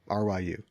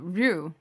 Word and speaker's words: Ryu: street fighter is named ry what no ryu uh rue right yes we're talking about